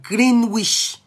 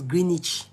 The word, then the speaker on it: Greenwich: When I got to London, when they showed me Woolwich, I used to say Woolwich. Now later they correct me saying now Woolwich, not because Greenwich. Now later they told me it's Greenwich.